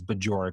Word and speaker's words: Bajorek: I don't know how many people just can't understand how to pronounce my name, but that's what it is. It's Bajorek for all of you out there listening at home.